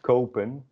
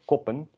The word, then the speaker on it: kopen: buy, and it's pronounced kopen, not koppen, because the O is followed by a P and then an E.